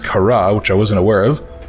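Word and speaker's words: Kharaa: Oh yeah, and obviously we just learned about the fact that apparently it's pronounced Kara, which I wasn't aware of.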